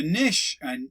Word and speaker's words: niche: A niche, or a niche, depending how you say it.